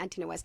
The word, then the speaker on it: Antinous: Okay, can I just say, I think it's Antinous, right? Antinous, Antinous. Yes, You're yeah. right. No, it's 100% Antinous.